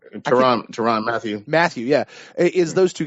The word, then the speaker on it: Tyrann Mathieu: Tyrann Mathieu.